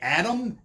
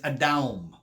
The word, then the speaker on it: Adam: see adam and eve we say adam and eve however the actual way to pronounce adam's name is a down a down now i've heard many